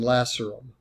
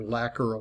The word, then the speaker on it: lacerum: to it called the foramen lacerum or lacquer you may hear pronounced both ways so again from the